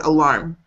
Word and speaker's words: alarm: It was where you're putting the emphasis on the word alarm. Yeah. The emphasis comes on the second syllable, alarm. Alarm. Not alarm, alarm.